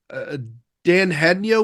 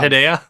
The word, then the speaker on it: Dan Hedaya: Um, Dan Hednia was in it. What was that? The dad, his name's Hedaya, right? I don't know. Hedaya? It's my job. Dan Hedaya? It's my job to mispronounce at least one name per podcast.